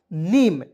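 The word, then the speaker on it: name: एम से लिखेंगे म अंतिम में ई है इसका उच्चारण ए के रूप में कर लेंगे दोस्तों क्या हो जाएगा नीम तो एन ए एम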